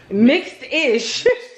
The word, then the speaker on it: Mixed-ish: Mixish? Mixed-ish.